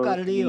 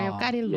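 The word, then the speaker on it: Leo Carrillo: 레오 까리오, L-E-O죠. 까리오. 아하. 레오 까릴로. 예. 레오 까릴로. 네, 예. 이 까리오 이게 LL이 이게 스페니쉬로 얘기하면은 발음이 안 되니까 까리오로 발음을 해야 될 것 같은 느낌이 드는데.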